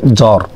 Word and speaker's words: জ্বর: এটা প্রথমে দত্ত হবে জ্বর জ্বরে ব আছে সেজন্য বফলা উচ্চারিত হয়নি তার মানে যদি প্রথমে